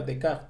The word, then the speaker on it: Descartes: Ah, la pronunciación sería Descartes, ¿no?